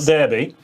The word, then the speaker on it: Derby: we see derby i want to stress the pronunciation here yeah derby um just up here from derby um there's